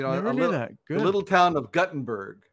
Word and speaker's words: Guttenberg: okay uh you know good little town of guttenberg right not gutenberg but guttenberg if you're from iowa you got to pronounce it correctly it's guttenberg are there two t's in it uh just